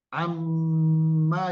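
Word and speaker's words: عَمَّ: bertasdid itu berhenti pada huruf Ma dengan dengung am ada ada getar di hidung bagian atas ini namanya gunah am ditahan am setelah itu pendek Amma ya hati-hati bacanya Ya Amma yatasalun itu bacanya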